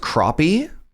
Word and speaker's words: crappie: It's pronounced crappie.